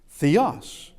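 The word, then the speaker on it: θεός: Theos.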